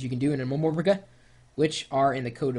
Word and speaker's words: MMORPG: It's just easier to say MMORPG. Seriously. MMORPG, MMORPG, four syllables, MMORPG.